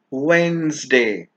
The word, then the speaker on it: Wednesday: pronunciation will be strength Wednesday the D in this word is silent jalapeno not jalapeno jalapeno